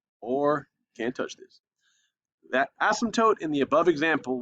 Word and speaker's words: asymptote: touch is called an asymptote. Go and write it down right here. Do not touch asymptote. Okay. I'll leave right there. Okay, so again, the asymptote, P is silent, like in pterodactyl.